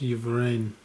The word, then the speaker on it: Yvain: It's Yvain.